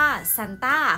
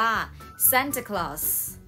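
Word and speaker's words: Santa Claus: เรียก กัน อยู่ ประจำ หรือ เรา จะ เรียก สั้น ๆ ว่า สั่ง ต้า ของ ลุง ซาน ต้า ใช่ ไหม คะ ที่ เรา คุ้น หู แต่ ใน ภาษา นี้ เนี่ย เรา จะ ออก เสียง ว่า แซน ตา ค รอส แซน ตา ค รอส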